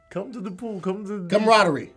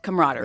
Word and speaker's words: camaraderie: come on hurry that's closer than you were camaraderie yes that's how you spell it robbery man I've been saying that word